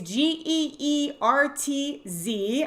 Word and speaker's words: Geertz: It's either Geertz or Gertz. It's Geertz. I always mix it up.